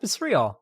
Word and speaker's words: rial: Is it pronounced real? I'm pretty sure it's pronounced real. Pronounce it. Pronounce it. Pronounce it. Come on, Google. Real. Yep, it's real.